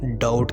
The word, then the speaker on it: doubt: शक को हम इंग्लिश में डाउट कहते हैं, DOUBT। बी इसमें साइलेंट है।